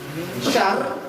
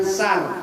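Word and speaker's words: شر: Oh samarin siap-siap dengung sambil dita ditahan syar syar. S y a R. Syar bukan sar tapi syar syar.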